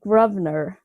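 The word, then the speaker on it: Grosvenor: closer he was like oh you're trying to say grovner i was like is that how it's pronounced and i think he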